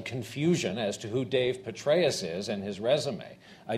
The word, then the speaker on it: Petraeus: In terms of Petraeus, that's how you pronounce the name.